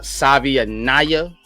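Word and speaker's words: Savaiinaea: You got Tate Ratledge, Jonah Savianaya is how he pronounced it.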